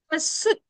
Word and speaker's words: suit: Suit. Suit. You don't have to say the I sound.